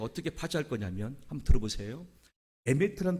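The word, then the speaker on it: אמת: 진리라고 하는 단어는 에미트란 발음인데 맨 앞에 나오는 게 알렙입니다.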